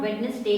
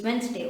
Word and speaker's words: Wednesday: This D over here is silent, Wednesday. It is not Wednesday, it's Wednesday, alright?